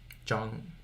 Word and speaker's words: Zhang: I'd probably say like, I mean, your last name is equivalent to, San. Zhang. Chang. Right? Chang. Yeah. Chang. Zhang. I always pronounce the Z more, but I also was